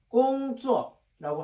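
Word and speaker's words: 工作: 그래서 중국 발음은 어떻게 되냐? 꽁쭈어라고 한다.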